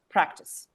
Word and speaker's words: practice: it advise devise but practice where is the stress in practice on a exactly and it's not so